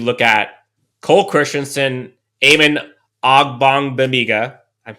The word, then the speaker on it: Ogbongbemiga: So after that, I think you look at Cole Christensen, Amon Ogbongbemiga, I said it right finally, Damon Lloyd, and Andrew Brown.